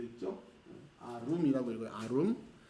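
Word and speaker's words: ערום: 아룸이라고 읽어요. 아룸.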